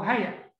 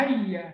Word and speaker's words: هيا: او ايا او هيا، نركز بس في النطق، ايا او هيا، ايا وهيا، عشان ما حدش ينطقها هيا، في فرق بين هيا وهي، هيا بمعنى تعالى، انما هيا دي اداه من ادوات النداء.